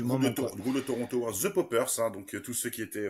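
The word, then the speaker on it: Paupers: à 69, c'est The Poppers. Ça ne s'écrit pas comme le Poppers, c'est P-A-U-P-E-R-S, et c'est un groupe canadien de psychédélique qu'on pourrait rapprocher plus ou moins.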